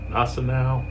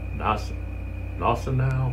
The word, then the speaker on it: Gneisenau: I think it's pronounced Gneisenau. Gneisenau, something like that.